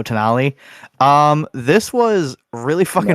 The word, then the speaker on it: Tonali: Is it Tonelli? Denali. There you go, Tonali.